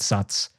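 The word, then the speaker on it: Satz: saying that this moment, I think it's spelled S-A-T-Z, SOTS, or she pronounced it SOTS, right before we step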